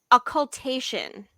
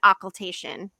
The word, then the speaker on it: occultation: is a ah well okay I need to pronounce population occultation occultation OCC u-l-t-a-t-i-o-n um in terms of sextant